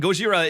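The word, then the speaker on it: ゴジラ: be sick I mean Gojira is the Japanese pronunciation of Godzilla so I mean it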